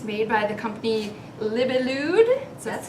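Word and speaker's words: Libellud: It's made by the company Libelude.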